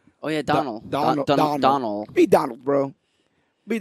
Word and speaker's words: Donal: I will say I pronounced that terribly, but he's missing a D. It would just be Donald if he would just have the other D at the end of the name. It's Donal. Oh yeah, Donald.